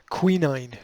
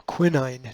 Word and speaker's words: quinine: Because it's got quinine or quinine, depending upon how you pronounce it, in it.